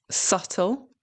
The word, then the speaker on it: subtle: In English, the B is usually silent, okay, when it appears before a T. For example, debt, subtle.